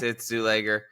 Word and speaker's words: Czuleger: Everybody, just so you all know, it's Czuleger. So there's an entire video on YouTube, I'm not sure if you know this, on how to pronounce it, and it suggests it's Czuleger. You've got to be You can look it up.